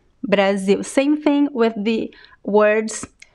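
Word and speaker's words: Brasil: pronounced as an l is pronounced as a a weak oo sound brazil brazil same thing with the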